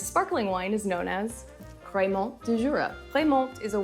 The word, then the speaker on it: Crémant: They sound pretty similar, right? So this is a little tricky, but Crémant, which is spelled C-R-E with the accent aigu, M-A-N-T, is very different than Crémant, which is spelled C-R-A-M-A-N-T.